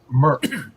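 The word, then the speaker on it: Mörk: So the So, internet, So the internet said it's actually pronounced Merc.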